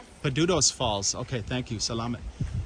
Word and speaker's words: Padudusan: you say the name of the falls peduto's false okay thank you salaam i don't get